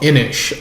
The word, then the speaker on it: Inis: So for the last game I'll be talking about today, I'll be talking about Inish. That's spelled INIS.